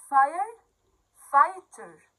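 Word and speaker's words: firefighter: قبل ما نقول اسمه، الجي والإتش دول ما بنطقهمش خالص، ماشي؟ يلا نقراهم بقى. فاير فايتر، فاير فايتر، فاير فايتر.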